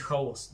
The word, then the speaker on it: хаос: Кстати, вы знаете, что в русской традиции правильно говорить «хаос». Давайте говорить правильно и правильно делать ударение.